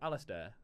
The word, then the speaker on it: Alasdair: I say Alister. You say Alister. Yeah. You don't have to pronounce it. You don't have to try and say the D.